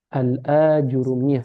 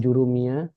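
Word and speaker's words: Al-Ajurrumiyyah: Al-Ajurumiyah bacanya gitu ya. Penjurumiyah, Al-Ajrum. bukan jurumiyah, bukan yang lainnya tapi Al-Ajurumiyah. Jadi panjang dia.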